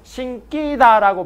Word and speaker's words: 신기다: 그래서 신기다라고 발음하면 민주야 어떻게? 틀려. 어떻게? 신기다라고 발음하는 거지. 알았니?